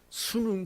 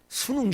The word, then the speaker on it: 순응: 그래서 학생들이 마리아의, 오늘 설교 제목이 마리아의 순응인데 잘못 발음하면은 대학 들어가는 수능 시험으로, 아니, 그 수능이 아닙니다.